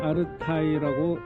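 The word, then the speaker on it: 阿勒泰: 아르테라고 한자로 써있죠. 중국인들은 아르타이라고 읽습니다. 아르타이. 그러니까 알타이랑 비슷하지.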